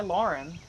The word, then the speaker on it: Laughrun: My last name is spelled a little weird, but it's Lauren. L A U G H Ru N.